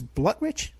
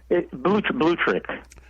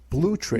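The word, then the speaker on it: Blutrich: Blutridge? Blutrick. Blutrick. Blue like the color blue.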